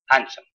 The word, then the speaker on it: handsome: الدي ما تنطق. Handsome.